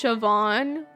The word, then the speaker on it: Siobhan: It's pronounced Siobhan.